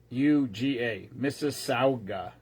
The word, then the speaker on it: Mississauga: It's like Mississippi, but it's not ippy. It's AUGA. Mississauga.